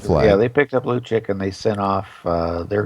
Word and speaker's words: Lucic: Lucic. Yeah, Lucic.